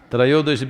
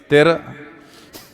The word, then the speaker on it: Trayodashi: North Indian people must connect, don't go on clipping away one syllable and come Dhanvantari becomes Dhan, Trayodashi becomes Tera.